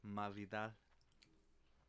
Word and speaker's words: Masvidal: Next week, we get a rematch of Kamar Usman taking on Jorge Masvidal. Or how Masvidal says it, Masvidal. Masvidal. He's like, say it right.